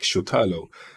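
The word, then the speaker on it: Šutalo: but yeah this is someone told me to pronounce it like shutalo and I think they're right because you can see he's got a little bit of a trim on that s so yeah he's doing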